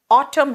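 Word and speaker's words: autumn: है अभी क्या है ऑटम है पतझड़ है बेटा ऑटम स्पेलिंग है ए यू टी यू एम एन लेकिन यहां एन साइलेंट है और या तो सॉफ्ट कर दो या साइलेंट कर दो मैंने कहा स्प्रिंग इसमें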